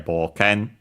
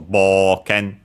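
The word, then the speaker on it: 冒険: And yeah, boken, unaccented. Notice the o, u, bo, u, and so actually pronounced as long o, and so boken. And yeah, so boken.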